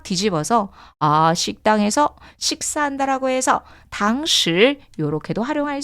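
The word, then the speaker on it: 堂食: 자, 포장은요, 외부로 들고 가다라고 해서 外带, 外带, 外带, 外带이라고 읽어주시면 되고요. 자, 너무 재밌는 표현이 하나 나옵니다. 여러분, 식당에서, 매장에서 먹는다라고 했을 때 당시 건설함 주의하세요.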